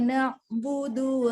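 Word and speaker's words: نعبد: Nah, Iyyaka na'budu wa iyyaka nasta'in. na'budu. Nah, ainnya jangan tertekan. Jadi na'budu jangan kepisah.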